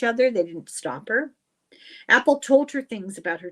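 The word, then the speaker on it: Apol: My name is Apple." And now it's not spelled like apple, but it's pronounced like apple.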